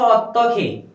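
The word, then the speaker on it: 어떻게: अर्को छ अत्तखे, उच्चारण अत्तखे गर्नुहोस् ल, मुनितिर ह छ साइडतिर ग छ, फाचिममा ह आएर साइडतिर ग आयो भने दुवैलाई जोड्दा उच्चारण हामीले के गर्नुपर्छ ख, अत्तखे कसरी, छिबेस आक्यो काजी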